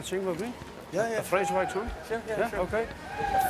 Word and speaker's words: Vreeswijk: Oh, how do you say that? Cornelius Vreeswijk. Vreeswijk? Yes. Vreeswijk. Ah.